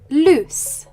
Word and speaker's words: loose: the two verbs lose Loose as we can hear there is a difference in pronunciation lse has a z sound loose has an S sound there is also a